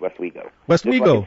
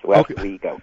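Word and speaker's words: Westwego: wo Louisiana if I pronounced that correctly corly pronounced West Wego wo yes West weo okay okay just like just like everybody did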